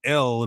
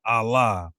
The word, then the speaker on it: El: We showed in the Bible how power or the generic term for God means L. That's how you pronounce it. L, not Allah.